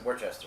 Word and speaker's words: Worcester: room there we went to live-action escapes in Worchester all right to be yes that's how you pronounce it for Chester yes and we did the Robin Hood dungeon